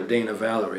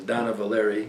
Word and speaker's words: Dana Valery: A lot of people call her Dana Valerie, but it was Donna Valeri, and she was Sergio Franchi's sister.